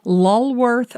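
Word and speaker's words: Lulworth: or even in your home this one's called lorth Blue by pharaoh and ball and lorth is spelled l u l w r t h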